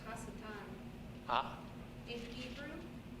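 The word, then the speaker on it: השטן: Okay, and In Hebrew, it's Hasatan.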